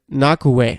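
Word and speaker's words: Ngakoue: it and Yannick mmm is it do I pronounce the G its ng ako UE is it in gaku a or is it knock away I think it's knock away it's gotta be knock away all right way the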